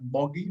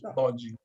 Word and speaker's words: Boggi: when they say it in English, they say it wrong, like Boggi, but in reality is Boggi.